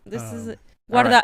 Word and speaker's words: Guardado: This is Guardado.